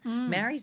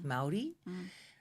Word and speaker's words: Māori: Maori's a really bad way to pronounce it. I think it's Māori.